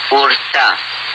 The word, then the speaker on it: Ur: from a place called Urta. Urta is taken to mean the ancient or the olden place, but the name Ur, or Er as many pronounce it, should strike a bell,